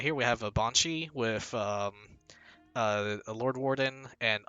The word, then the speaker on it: banshee: have one of my I'm pronouncing it looks like bean sheed or something, but one of my friends, he's like really into Gaelic culture and language, and he always says it's meant to be pronounced Banshee, and I guess that makes sense because it's supposed to be like an English, Irish, Gaelic unit.